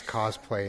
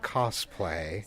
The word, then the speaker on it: cosplay: So, and I can hear that I've already mispronounced it as cosplay instead of cosplay. Yeah, so it's which is a common mistake, I'm guessing.